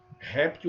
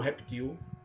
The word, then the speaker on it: réptil: Você pode falar acrobata ou acróbata, crisântemo ou crisantemo, oceania ou oceânia, réptil ou reptil, projetil ou projétil. Então essas duas variantes, nessas palavrinhas aí, e mais algumas, tá?